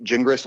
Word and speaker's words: Gingras: And to give you a little phonetic help with my last name, it's pronounced gin like you drink and grass like you mow. Gingras.